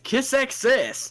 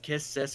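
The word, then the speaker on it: Kiss×Sis: This one is Kiss X Sis. Yes, sir. Or it's actually pronounced Kiss Sis, but I hate saying that.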